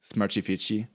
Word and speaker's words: SmartFit: but it's pronounced like Smartifici. With Brazilian Portuguese, when there's an American word, they oftentimes add vowels to the end, like Facebook is like Facebooky.